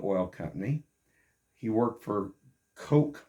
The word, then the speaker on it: Koch: He worked for Coke Marketing, or a lot of people pronounced it Koch, K-O-C-H.